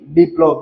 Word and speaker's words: বিপ্লব: এখানে দেখেন পরবর্তীতে যেটা রয়েছে সেটা হচ্ছে কি বিপ্লব যেটা রয়েছে সেটা কি বিপ্লব এখানে কি রয়েছে মাঝে ল ফলাযুক্ত রয়েছে শব্দের মাঝে লফালা যুক্ত রয়েছে।